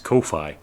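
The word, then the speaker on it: Ko-fi: turns into that so it's not coffee it's it's Kofi and they go it rhymes with no fee and we all go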